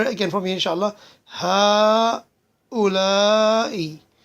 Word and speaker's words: هؤلاء: هؤلاء. So after the first ha is elongated.